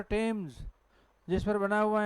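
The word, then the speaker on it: Thames: जिसमें क्या होता है टी एच is pronoun pronounced नहीं नहीं प्रोनाउंसड ट क्या लिखा है तो यह थम नहीं है थम्स अरे नाम सुना होगा लंदन में एक नदी है कौन सी रिवर टेम्स जिस पर बना हुआ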